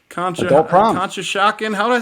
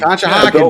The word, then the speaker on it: Conshohocken: Bill is actually going to a 70s prom in Conshohocken. I keep saying it wrong. Conshohocken, baby.